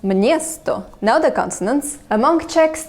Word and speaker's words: město: After M, it inserts a ñ, so this word, which means town, is actually pronounced mniesto.